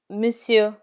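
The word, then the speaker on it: monsieur: sir or gentleman is missu missu in missu the final R is never pronounced gentlemen in plural is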